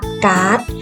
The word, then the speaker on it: การ์ด: ดี เท่า กับ เด็ก แต่ เรา ไม่ ต้องการ ให้ รอ เรือ ออก เสียง จึง ใช้ เครื่อง หมาย ทัณฑฆาต กำกับ ไว้ กลาย เป็น ตัว มี หน้า ร้าน และ อ่าน ออก เสียง คำ ดี ว่า การ์ด นอก จาก นี้ ก็